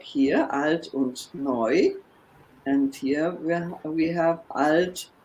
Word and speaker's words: neu: This is pronounced neu.